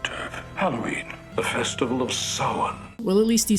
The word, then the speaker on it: Samhain: Halloween, the festival of Samhain.